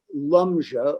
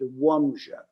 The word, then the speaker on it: Łomża: They came from a town in northeastern Poland called Lumja, although in Polish they pronounce it Łomża.